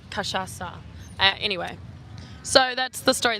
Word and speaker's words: cachaça: And he said it so softly, he said La Casha, but it's cachaça.